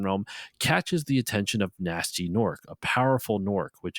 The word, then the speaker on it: Gnasty: junkyard, which he renamed Nasty's World. And Nasty is spelled Gnasty.